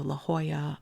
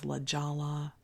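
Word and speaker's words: La Jolla: were pronounced in Spanish so la Hoya I thought was LaLa I thought Lo Siena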